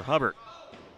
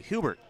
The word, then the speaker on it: Hubert: And the easy slam there for Hubbard. Excuse me, Hubert. Desmond Hubert. Begging your pardon on that pronunciation.